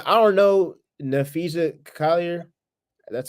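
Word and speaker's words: Napheesa Collier: Oh, like I don't know, Nafisa Collier.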